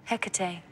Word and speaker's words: Hecate: This little guy on top, how do you pronounce it? Hecate, demon of the night.